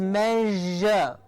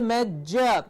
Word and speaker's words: measure: to give us the so it's not my year it is not a year it is measure yes but it is certainly not the major it's not a ja it's a jer it's a tricky sound because